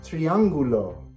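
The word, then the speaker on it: triángulo: you say triangle triangle triangle in Spanish it's triangulo triangular say with me triangulo good job hmm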